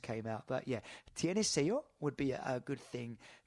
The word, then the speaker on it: sello: So you can just ask for the word for stamp in Spanish is sello, SELLO, but that double L is pronounced like a Y in English.